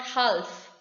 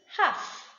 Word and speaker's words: half: and silent n now for letter l to be silent if it comes after the wobbles it is not pronounced for example cuff half it is not half it is half the palm the palm